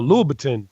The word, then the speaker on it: Louboutin: article in the Washington Post from how you pronounce the red bottom guy named Louboutin? Whatever his Louis Vuitton. Yeah, Louboutin. No, Louboutin. Yeah, Louboutin. Christian Louboutin.